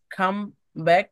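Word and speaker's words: comeback: যেমন খাম ব্যাক, এখানে ই, ই এর কোনো উচ্চারণ আসে নাই। খাম ব্যাক, খাম ব্যাক সরাসরি মর পরেই বর সাউন্ড আপনি নিয়ে আসবেন, খাম ব্যাক, খাম ব্যাক।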